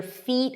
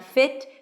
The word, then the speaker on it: feet: Get your feet, high E, not fit, feet wet. Fit is a different word.